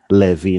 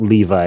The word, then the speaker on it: Levi: Yeah, so just in case for the listeners, we used to call him Levi, not Levi. You know, Levi is English pronunciation, so we just call him.